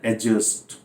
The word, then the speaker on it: adjust: इसका प्रोनाउंसिएशन है एडजस्ट, यानी यहाँ D साइलेंट। डी क्या है?